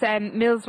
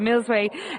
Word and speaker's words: Millsway: But the Joseph O'Brien horse, Mills, I never pronounced this horse right, Millsway, back off having a hurdle campaign during the winter.